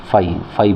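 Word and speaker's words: phi: ph फाई बोलते हैं इसको।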